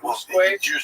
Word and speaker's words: Usque: However, when I looked it up online, they said Asque. We can't take this guy lightly on feet. Not in conformity with Latin rules of pronunciation, but on the other hand, the name is Portuguese. So please, those of you who know it properly, forgive me if I say Usque. It's going to come naturally.